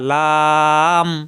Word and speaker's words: ل: দু এরকম উচ্চারণ হবে আট নাম্বার মাখরাজ জিহ্বার আগার কিনারা উপরের মাড়ির দাঁতের ঘোড়ার সঙ্গে লাগাইয়া লাম স্বাভাবিক উচ্চারণ লাম লাম এটা সহজ লাম জিহ্বার আগার কিনারা উপরের দাঁতের গোড়ায় লাগবে লাম লাম সহজ লাম নয় নম্বর মাখরাজ জিহ্বার